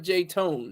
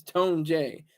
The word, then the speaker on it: Tone J: First of all, it's not J Tone. It's Tone J.